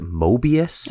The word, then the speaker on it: Moebius: I believe you pronounce it Moebius.